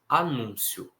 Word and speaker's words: anúncio: E anuncio, anúncio. Então, são palavras que existem dos dois jeitos, sem acento e com acento. Em cada um significa uma coisa diferente. A sílaba tônica é diferente também nos dois casos.